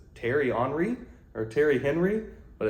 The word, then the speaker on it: Henry: parfumes enri jaac and I say HRI because if you ever follow French football you know it's not Henry Jac it's HRI I don't care they say it it's got to be HRI um TI HRI one